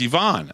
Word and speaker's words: Yvonne: How do you pronounce Ivan's name? Yvonne's name. And he literally said, it's Yvonne.